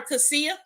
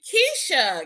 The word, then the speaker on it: Keisha: I remember when we first met her, we used to call her Cassia because of how it's spelled. But her name is actually Keisha.